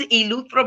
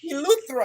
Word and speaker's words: Eleuthera: I'm gonna say, because Latanya, how you pronounce that one? Rock Sound, Eleuthera, Bahamas. Eleuthera.